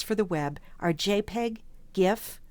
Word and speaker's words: GIF: The primary formats for still images for the web are JPEG, GIF, or as some people pronounce it, GIF, and PNG.